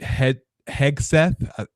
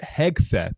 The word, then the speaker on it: Hegseth: Pete Hegseth, I was pronouncing the G as a J for the longest time. That's why I stuttered there. Pete Hegseth is the Secretary of